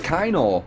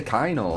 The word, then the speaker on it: Kano: So it's Kano. You're supposed to say Kano.